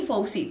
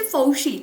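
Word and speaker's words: Fauci: सलाहकार है doctor Anthony फौसी। ठीक है ना, अभी फौसी लिखा है लेकिन इसे प्रोनाउंस करते हैं बच्चे फौशी। ठीक है, फौशी ऐसे प्रोनाउंस करते हैं।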